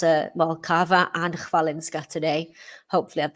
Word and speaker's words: Kawa: a Polish funny and I've learned how to pronounce it well Cava and valinska today hopefully I've done them Justice